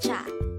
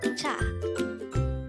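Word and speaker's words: 차: term for car is cha again it's cha this is pronounced as one syllable word pronounce it with me cha cha how do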